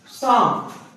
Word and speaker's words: psalm: शाम, PSALM, शाम। यहां पे इसको मैंने शाम बोल रहा है, इसको बोला है शाह। साइकोलॉजी एमटी, इसके आगे पी आ रहा है। पी आपको प्रोनाउंस नहीं करना है, इस चीज का ध्यान रखना है।